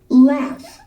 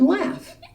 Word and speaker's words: laugh: made us laugh laugh laugh sounds like it has an f on the end but it has a gh laugh this is the word laugh say it with me laugh the gh makes an f sound listen to the buzzing